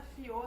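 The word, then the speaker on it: Fiaux: Vou colocar aqui na tela, Fiô, domine suas finanças. Meu nome se escreve F-I-A-U-X.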